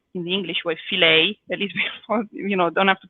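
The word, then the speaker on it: Fileja: Allora, this pasta is called filet, plural. It's written fileia with a at the end that we pronounce a, but it's actually pronounced in the English way filet.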